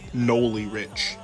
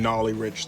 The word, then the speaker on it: Nolly Rich: note to you guys I am mispronouncing his name it's actually pronounced Noli Rich I'm saying nollie Rich the whole video all